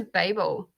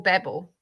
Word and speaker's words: Babel: There is debate and contention as to which way you pronounce that. I automatically say Babel, but after reading it a little bit, and I also have to pick it back up. The nickname for them is babblers.